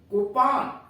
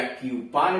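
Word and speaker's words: coupon: Number 14 COU, डाट लगा हुआ है, एक syllable, PON, कूपन, कूपन यूएस में कूपन कहते हैं, या क्यूपन भी कहते हैं यूएस में।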